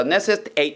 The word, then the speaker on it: necessitate: desertify 사막화하다 socialize 사유하다 necessitate 하게 되면 필요하다 선생님 이거 방금 8라고 발음했지? 네, 동사가 아니라 형용사가 되면 it로 발음하는 건 다음번에 한번 알려드릴게요 됐니?